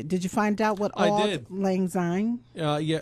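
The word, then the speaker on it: Auld Lang Syne: you find out what all Lang z uh yeah it's spelled by the way old is it's spelled a u l d Lang l n g and sign s y n e and and literally old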